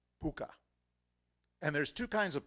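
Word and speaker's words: púca: or pu kha but however you spell it it's pronounced puka and there's two kinds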